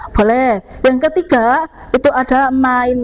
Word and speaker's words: mein: Kemudian bacanya main bukan main. Jadi EI itu bacanya AI, mein Name ist.